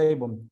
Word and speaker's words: Avon: eso es pecado iniquidades abon con b pequeña así como la marca esa de cosméticos abon o Avon se pronuncia Avon abon eso es iniquidad la